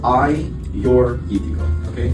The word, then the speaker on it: Agiorgitiko: Um it's pronounced as I your okay is actually Greece's most planted red grape variety.